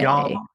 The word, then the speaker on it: Jalmar: Jalmar. Yeah. Jalmar. Yeah. No H, but they still pronounce that.